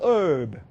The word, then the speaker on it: herb: 영어로 이것이 이 모든 땅의 herb. 영국 사람들 발음은 herb예요. herb. 영국 사람들 herb라고 그러고 미국 사람들은 herb라고 그래요.